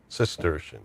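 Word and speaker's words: Cistercian: It's spelled with a C. Sister. Oh, sistersian.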